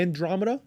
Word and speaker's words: Andromeda: Andromeda? Yep. Okay, cool. You said you target for your audience. Now, do you prefer with this new update for Meta, which is Andromeda, do you prefer to target audience or let